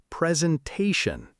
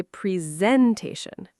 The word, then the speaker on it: presentation: Mistake number four, presentation. Oh, this one is very common. Learners say presentation. It's presentation. The stress is on ta.